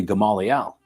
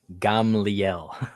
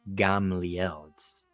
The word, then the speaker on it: Gamliel: But of course, Paul's rabbi was the legendary Gamaliel, which was the Gamliel. I know it's just a pronunciation thing, and we shouldn't hark on people for mispronouncing words, but it always does get me.